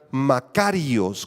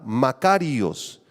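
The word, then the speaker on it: μακάριος: bienaventurado si quieres escribirla es la palabra griega macarios con acento en la a macarios y describe una felicidad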